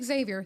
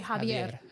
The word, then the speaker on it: Xavier: which is they're like don't say Xavier, say Javier because it makes him seem more. Okay.